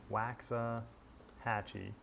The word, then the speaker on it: Waxahachie: Waxahachie. I should probably know this, given that I've lived in Texas my entire life, but I also don't own cowboy boots, so not the best Texan anyways. Waxahachie.